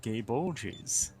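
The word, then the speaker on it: Gáe Bolg: will the enchanted spear the gay ball but in fate stay night for some reason they pronounce it gay bulges giving you the like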